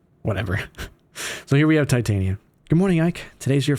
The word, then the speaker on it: Titania: People say Titania. I say Titania, because that's just how I grew up, alright?